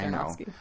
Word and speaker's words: Aronofsky: It's Aronofsky.